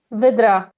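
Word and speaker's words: Wydra: That's the Polish pronunciation. I don't know. She like she lived most of her life in the US. So, I guess your pronunciation is the correct one. Well, I don't know. I don't think we pronounce that word. So, I'm going to stick with Polish for for now.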